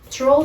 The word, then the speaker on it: trawl: But pay attention, when we pronounce first 2 letters, tr, they don't sound like tr, but trawl, trawl, trawl.